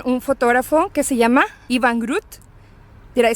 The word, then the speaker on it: Iwan Groot: Y aquí estamos con un fotógrafo que se llama Iwan Groot.